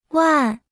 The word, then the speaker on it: 万: 万万万万万万万 Se pronuncia con el cuarto tono.